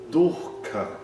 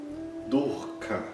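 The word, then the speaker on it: दुःख: Um desses raros exemplos é a palavra durca. Durka. Nesse caso, a gente quase não nota a repetição da vogal u durca, né? é quase como se fosse um H simples, mas é um visarga nesse caso.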